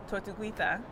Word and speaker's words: Tortuguita: And then something else that I thought was so interesting in my research, I found out about Tortuguita. I believe that's how you pronounce it.